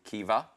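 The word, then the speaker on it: Caoimhe: But the first name, Caumhí, is pronounced Kiva. Kiva.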